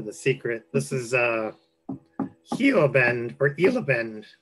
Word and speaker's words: Gila Bend: secret this is uh Hugh abend or ill abend you can't pronounce the G the G is silent we learned that through him because of course we're calling a Gila Bend this is a hilarious